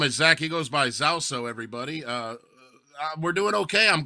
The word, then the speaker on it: Zauso: Well, it's spelled Zauso, right? Zauso.